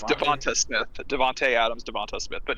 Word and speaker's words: DeVonta Smith: People pronounce it Devontae though, don't they? It's Devonta Smith.